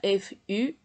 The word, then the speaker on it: futon: Mais alors, en japonais, on doit prononcer futon. Ça s'écrit H-U-T-O-N ou bien F-U-T-O-N.